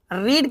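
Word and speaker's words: read: इसके बाद third form रीड की थर्ड फॉर्म रेड केवल इसका प्रोनंसिएशन चेंज होता है स्पेलिंग सेम रहती है रीड की तो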